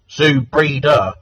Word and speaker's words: Zoubida: think, because I think Zoubida, I could be pronouncing that wrong. Is it Zoubida? Zoubida.